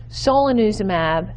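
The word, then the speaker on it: solanezumab: promising and they are a mouthful let me pronounce these for you so under drugs i have bapineuzumab so lanuza mab kryn uzum ab and Gant in orem ab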